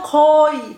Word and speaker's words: 거의: 거의, on a écrit 거의, mais couramment, en fait, on prononce carrément 거의, 거의.